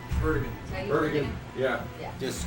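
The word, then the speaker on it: Erdoğan: Is it Taya Erdogan?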